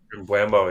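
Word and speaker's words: Mbeumo: Mbuemo, yeah.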